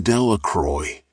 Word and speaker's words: Delacroix: Bobby and Harry Jones and Dickie Delacroix, the villagers pronounced this name Delacroix, eventually made a great pile of stones in